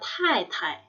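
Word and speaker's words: 太太: Jadi kita panggilnya Tai Tai. Tai Tai, ingat T ada anginnya ya, Tai Tai.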